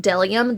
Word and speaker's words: Bdellium: that it is pronounced delium the B is silent the double Dome is